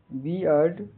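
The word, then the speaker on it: beard: जैसे बियर्ड का उच्चारण बियर्ड बियर्ड बियर्ड बी अ ड ये की ध्वनि ई जैसे सुनाई देता है।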